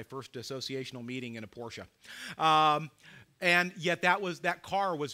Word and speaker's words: Porsche: No, it's not porch. Porsche, two syllables.